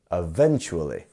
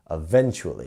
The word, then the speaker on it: eventually: we are so which which um which um part of this word is our stress syllable which syllable it's the V bit right eventually eventually so here we go yes so it's our second syllable eventually if you want to repeat after me eventually eventually very good